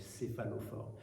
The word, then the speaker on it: céphalophore: C'est Saint Denis, vous savez, c'est celui qui porte sa tête en grec, céphalophore. Le petit céphalophore, alors ça s'écrit avec un peu compliqué, C-E-P-H-A-L-O-P-H-O-R-E.